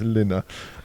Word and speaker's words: Lina: I've been calling her Lena throughout the time, and she very quietly whispered right at the end, she said it's Lina.